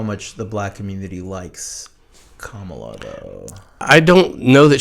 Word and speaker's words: Kamala: sorry to not endorse it's Kamala the the accent is on the first syllable to not endorse Kamala I mean you're opening